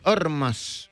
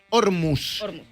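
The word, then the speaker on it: Ormuz: Ormas, no es Ormus y se no y se pronuncia Ormas, ¿no?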